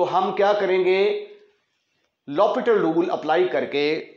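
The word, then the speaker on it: L'Hôpital: apply ल पिटल rule इसको ल पिटल रूल पढ़ते हैं स्पेलिंग इसके हॉस्पिटल के एल हॉस्पिटल रूल जब हम इसको पढ़ेंगे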